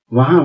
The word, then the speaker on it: were: बाकी जहां जहां हमने वर्तमान काल में यानी प्रेजेंट टेंस में ARE का प्रयोग किया, वहां वहां पास्ट टेंस में WERE का प्रयोग करेंगे। इसका सही उच्चारण है व।